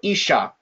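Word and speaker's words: אִשָּׁה: So the aleph with the hirek, shin, and then there's the dagesh in here. Then we have a kametz, and then finally the hey. Okay? So isha, all right?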